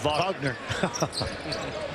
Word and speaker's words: Wagner: Watson Walton Wilson Wagner although it's pronounced vogner gets the pick and